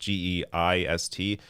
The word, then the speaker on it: Geist: I believe his last name is pronounced Geist.